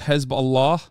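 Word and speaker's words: Hezbollah: don't want to be that chatter but it's pronounced hezb Allah okay in Turkish you say hisbah okay shut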